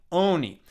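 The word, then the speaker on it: עני: Ayin is a silent letter, just like the first letter of the alphabet, aleph. And it's the vowel sound that gets attached to it, which makes it sound like oni.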